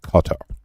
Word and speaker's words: Qatar: Like, Qatar, the Brits pronounce it Qatar. However you pronounce it.